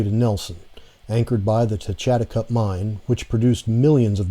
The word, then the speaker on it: Techatticup: All right, so we're here at the, how do you pronounce this? Techatticup Mine. Techatticup Mine, okay.